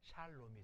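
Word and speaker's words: שלום: 근데 L 발음은 발음을 두 번 해야 돼요. 한 번은 받침을 주고 초성을 발음하고 샤롬이 아니라 샬롬이 된 거예요. 그게 R과 L의 차이예요. 레이시는 발음 한 번밖에 안 하는데 라멕은 발음을 두 번 해요. 맨 처음 시작하거나 끝날 때는 아니지만 중간에 있을 때는 앞에 부분에 받침을 주고 다시 초성으로 불러줘서 샤롬이 아니라 샬롬이라고 발음해요. 샬롬, 샬롬.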